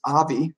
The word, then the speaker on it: Avi: His name is Avi, coming from the Abraham, like the father of our faith, but the Hebrew pronunciation with a V there.